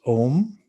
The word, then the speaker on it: Om: So it's pronounced Om. And when you close your lips after the O and then you hit the M, it's like in bonjour, there's an on sound.